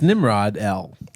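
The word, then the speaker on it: Nimrodel: It's Nimrod-el. Is it how is. it's spelled.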